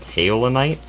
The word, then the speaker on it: kaolinite: Also, someone notified me that it's pronounced kaolinite, and I checked the pronunciation, and they are right.